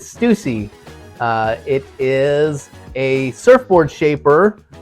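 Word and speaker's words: Stüssy: So the young folks pronounce it Stussy, which is incorrect. It is Stussy.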